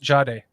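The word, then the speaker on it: Jahdae: before where this Noct, just to correct you, it's pronounced Jade.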